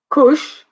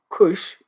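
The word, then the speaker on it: כוש: Kush, or Kush in Hebrew, Hebrew pronunciation is Kus.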